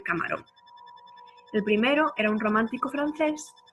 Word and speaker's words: romántico: Romántico. Romántico es una palabra esdrújula y lleva tilde.